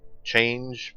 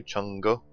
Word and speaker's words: Chang'e: however pronounced young gay change but apparently chango is the correct way to pronounce this goddess's name so let's take a